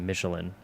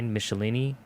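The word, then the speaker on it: Michelinie: I always pronounce it Michelin, but it's like Michelini.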